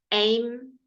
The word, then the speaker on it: aim: like this okay a aim or straight a I aim and please Spanish people say the M it's important it's important to actually say the M I know some of